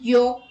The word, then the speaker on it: yolk: L is not pronounced after the vowels A, O and U. Let's look at the examples. Calm, half, talk, walk, would, should, could, calf, salmon, yolk, chalk, balm.